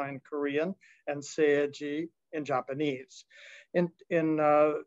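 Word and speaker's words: 青磁: same two characters used in korean and japanese pronounced chung-ja and korean and seiji in japanese in in uh in east asian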